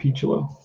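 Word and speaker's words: Picciolo: it one to nothing here is picholo rob pichulo that's how you pronounce his name here's the pitch from morris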